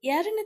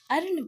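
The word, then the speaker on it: earn: पढ़ेंगे ना अर्ण पढ़ेंगे इसमें क्या है इसमें ई साइलेंट है ए का उच्चारण ही होगा इसमें अर्न अर्नेस्ट देखिए इसमें भी अर्नेस्ट में ए का उच्चारण हो रहा है ई का उच्चारण नहीं हो रहा है अर्नेस्ट ई हटा दीजिए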